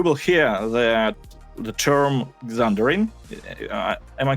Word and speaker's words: Xandering: first dungeon, you will hear that the term Xandering. Am I correctly pronouncing it? Xandering, yeah. Yeah, Xandering.